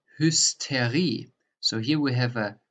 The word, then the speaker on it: Hysterie: So first, if the ST is at the beginning of a word or if the ST is in the middle of a word, that's different in the pronunciation. For example, der Stahl, the steel, der Stahl. Or here, if it's in the middle of the word, like hysteria, which is a Greek original word, the Hysterie.